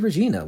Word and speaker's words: Regina: He put another sign over it that said, "Welcome to Regina," which rhymes with fun.